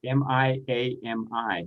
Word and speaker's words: Miami: How do you pronounce M-I-A-M-I? It's a city in Florida and Texas. Is that Miami? Well, in Texas, it's Miami.